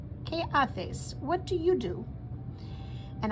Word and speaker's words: haces: ¿Qué haces? The H is silent. ¿Qué haces?